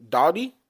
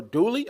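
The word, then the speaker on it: Dowdle: with their young guy Rico Dowdy or Dooley. I think it's Dolly.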